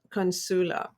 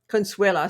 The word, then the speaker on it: Consuela: a little bit about consula consuela sorry miss mispronunciation here so she's a speaker